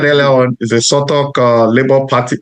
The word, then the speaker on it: Southwark: Sonny, like I said earlier on, is a Sotok Labour Party. Did I pronounce that well, Sotok? Yes, Southwark. Yeah, Southwark. Fee, like fee. You say, yeah.